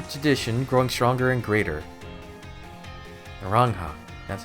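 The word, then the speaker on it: Naranja: Narangha.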